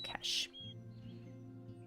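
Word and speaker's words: cache: with cash like money cash c a c h e cash the pronunciation is the same but the spelling is different so yeah if we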